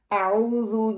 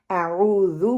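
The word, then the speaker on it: أعوذ: پہلا کیا ہے کہ عام طور پر تلفظ کے لحاظ سے 2 غلطیاں اس میں پائی جاتی ہیں. اعوذ ہم کیا پڑھتے ہیں؟ اعوذ اعوذ. واو کو ہم پڑھتے ہیں عین کی جگہ پہ، حتیٰ کہ پڑھنا عین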